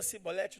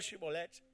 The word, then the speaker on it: Shibolete: Ah, meu irmão, falou Sibolete, não pronunciou Shibolete, é faca na caveira.